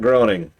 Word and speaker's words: Groening: Yeah, it's like graining. Like there's the vowel changes in the.